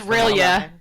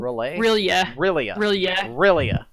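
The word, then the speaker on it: R'lyeh: Rely? Is it Rely? Lord, where do we even begin, honestly? It's pronounced Rilia. Rayla? I can't pronounce. Rilia. Yeah, like that. Rilia.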